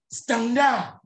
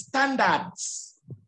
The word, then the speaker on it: standards: In English, is standards. Standards. Good. Standards. At the end of the word, you must pronounce D, you must pronounce S, you must pronounce T, etc.